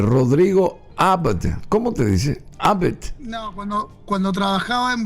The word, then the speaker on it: Abd: mis años Rodrigo eh abd Cómo se pronuncia tu apellido abd es eh se puede pronunciar AB o se puede pronunciar cuando estaba en Siria se pronuncia a veces abed sirio mis abuelos eran